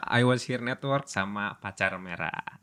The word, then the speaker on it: Patjarmerah: was here Network sama pacar merah ini bacanya pacar merah ya bukan Patar yanya kalau yang tidak tahu